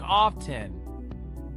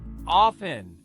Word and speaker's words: often: Some learners say it with a hard T, like often. The correct way is often. Say it with me, often.